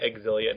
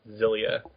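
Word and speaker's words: Xillia: the Wiki page and if you go to like the phonetic sound of the Japanese pronunciation it's like uila or something like that and that's how they say in the game they say exilia not zilia although I've always been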